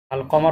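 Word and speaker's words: القمر: হরফে কমারিয়া, আর এই 13টিকে বলা হয় হরফে শামসিয়া, কারণ আশ শামসু হয়, আশ শামসু, আল কমার হলে আল কমারু, আল কমার, তখন লাম উচ্চারণ হয়, আর শামসুতে লাম উচ্চারণ হয় না, আশ শামসু।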